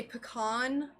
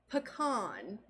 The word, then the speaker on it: pecan: murder people what do you say pecan pecan i say no everyone's gonna unfollow me